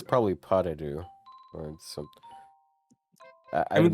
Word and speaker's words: pas de deux: it's probably pas de deux or some. I I mean, this is imagine the also- S is not pronounced.